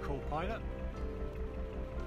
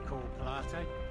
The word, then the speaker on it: Coole Pilate: Coming into now is a place called Cool Pilot, or if you pronounce it how it looks, it's Cool Pilate.